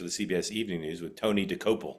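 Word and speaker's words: Tony Dokoupil: CBS Evening News, with Tony DeCopel. Is that how I pronounce it? Did I get it right? Tony DeCopel.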